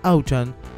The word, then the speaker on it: Auchan: puesto número 3 y auchan es la pronunciación de out champ que significa literalmente alcampo es un círculo como